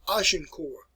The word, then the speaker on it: Agincourt: Another battle in 1415, let me pronounce it for you. It is called Agincourt.